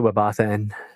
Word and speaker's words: WebAuthn: Yeah, I pronounce it WebAuthn for sure.